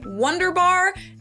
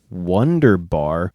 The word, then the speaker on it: wunderbar: In English, people usually say Wunderbar. In German, it's Wunderbar.